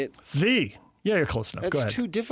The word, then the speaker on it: Svi: I think a kid like Sieve, is that how you say it? Zvi.